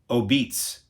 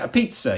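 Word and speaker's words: apizza: with a love for the town's beloved a pizza, pronounced Obeats. Oh, okay, Obeats. Who does the impossible by bringing... See, I always joke about it because I'm ignorant. I always say, a pizza.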